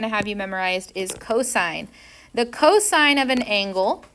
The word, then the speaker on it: cosine: my pet peeves is calling this cos Theta no it's called cosine of theta you're going to pronounce